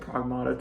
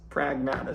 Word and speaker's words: Pragmata: I was like everyone else, I was pronouncing it Pragmata. Turns out it's Pragmata, so I still need to get used to saying that.